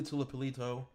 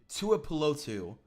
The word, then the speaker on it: Tuipulotu: I'm not really high on Tuli Tuipulotu. I butchered that name. Tuli Tuipulotu.